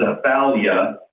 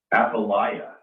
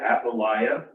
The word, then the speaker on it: Athaliah: So our story today is about, I thought it was Athaliah, but Dewey pronounced it Athaliah. Does that sound right? Athaliah? So we're going to go with Athaliah, but I'll probably revert a few times, so just bear with me.